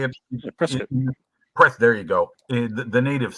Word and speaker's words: Prescott: Well, it's pronounced Prescott. That's how you say it. Prescott.